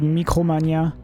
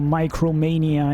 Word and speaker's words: Micromania: GameStop which is called Mikromania uh in France or Micromania if you want to if you want to pronounce it the English way.